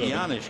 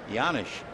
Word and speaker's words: Janish: The Janisch is a Czechoslovakian name, but Paul says he has no idea why the J is pronounced like a Y. The 1-0 pitch on the way. Janisch hits a one-hopper into center.